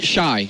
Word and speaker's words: XY: Now on stage though, we do have XY or Shy. What's the correct pronunciation? Shy. Shy. All right, so Shy.